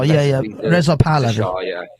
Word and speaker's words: Reza Pahlavi: Oh, the Shah, Reza Pahlavi.